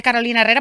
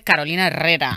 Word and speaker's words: Carolina Herrera: me ayudas Carolina Herrera Cómo se dice se dice Carolina Herrera Porque esa señora es cubana Entonces se dice Carolina Herrera Por qué entonces hemos